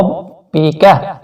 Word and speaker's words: رَبِّكَ: کاف بریک بھی پڑھنا ہے اور اس کو کھینچنا بھی نہیں ہے، اس را کو آپ نے موٹا پڑھنا ہے. رَبِّكَ.